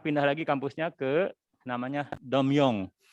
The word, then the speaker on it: Tongmyong: Kemudian beliau sekarang pindah lagi kampusnya ke namanya Domyong. Tulisannya Tomyong tapi dibacanya Pak Rektor Domyong katanya dibacanya.